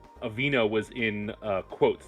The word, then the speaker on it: Aveeno: didn't tell me the spelling, so I spelled it the way it's pronounced phonetically. Okay. Aveeno, Okay.